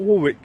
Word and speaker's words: Warwick: Warwick Castle, yeah, not Warwick. It's Warwick. It's completely pronounced the But way they that it's had not spelled.